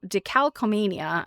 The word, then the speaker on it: decalcomania: And I think so decalcomia is pronounced d e c a l c o m a n i a.